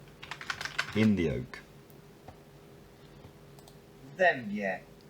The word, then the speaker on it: w dębie: W dębie.